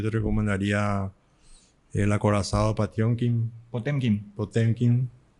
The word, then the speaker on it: Potemkin: Yo te recomendaría El acorazado Patiomkin, Potemkin. Potemkin. Me dijo Galia Jiménez que se pronuncia Patiomkin, así que yo me mantengo en eso.